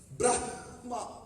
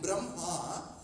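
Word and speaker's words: ब्रह्मा: So if you pronounce it in the way you write, what should you say? Brahma. Correct? But when you pronounce it, Ma takes precedence over Ha. So you call it Brahma. But when you write it, you put Ha first.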